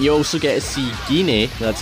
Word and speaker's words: Gine: And you also get to see Gine, that's how you say her name. I thought it was Jean, I guess I was wrong. It's Gine, right?